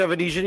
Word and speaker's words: Avanesyan: Bud Crawford fighting David evanesian versus did I say it right say it again uh David evanesian you got it perfect okay because they've been